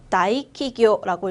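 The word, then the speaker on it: 大企業: 대기업이라고 읽어볼까요? 다이키교라고 읽으시면 되고요.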